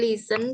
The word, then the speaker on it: listen: S music music ni Listen tulisannya kan listen Tapi bacanya t-nya eh apa enggak kedengaran dihapus jadi listen Oh listen listen I